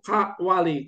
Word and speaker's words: Kawali: membacanya dengan disekaliguskan Kawali Kawali itu membacanya harus hati-hati maka membaca yang betul itu adalah Kawali itu k Wali kitaang sedang pergi ke tempatnya para wali di sebel sebelum kekawali